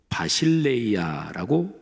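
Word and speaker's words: βασιλεία: 자, 두 번째 단어 하나님 나라 헬라오로 바실레이아라고 발음합니다.이 이 바실레이아는 주권적인 다스림,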